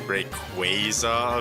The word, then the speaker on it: Rayquaza: So technically Rayquaza is pronounced Rayquaza officially, but I don't think you'll ever catch me saying Rayquaza like regularly.